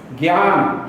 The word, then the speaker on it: ज्ञान: बनता है पहले हम तो अभी तक गया इस रूप में उच्चारण करते हैं लेकिन वो सही उच्चारण उसका है नहीं बोलेगा ज्ञान ज्ञान और यह रामदेव को